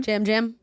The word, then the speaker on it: Yam Yam: Jam Jam. Is that how you say it? I'm Yeah. looking at the thing and it's Yeah, it's so spelled that way, but okay. it's Jam Jam.